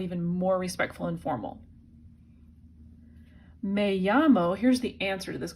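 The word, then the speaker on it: me llamo: makes it sound even more respectful and formal may-yammo here's the answer to this question may llamo let's let's say let's translate it I call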